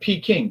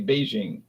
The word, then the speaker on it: Beijing: So like P King, people always say P King. When I grew up, capital of China, red China was P King. Okay. But they said, "No, we don't really say that. We say Beijing."